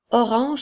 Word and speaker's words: orange: Orange s'écrit O, R, A, N qui font le son en, G, E. La lettre G fait le son J. Alors, nous avons O, R, ange qui fait orange.